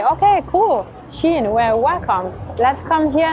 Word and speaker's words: Shein: It's the Shein. It's very funny because Shein in French is China, but it's written like a different way. But the pronunciation is the same.